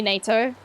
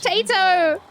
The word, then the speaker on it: Tato: Let's cut out the middle syllable. NATO. That's not how this works. And everyone's like, no, but it's easy to say. I'm like, yes, so is Tato. Tato! Everyone calls me Tato. Like Potato.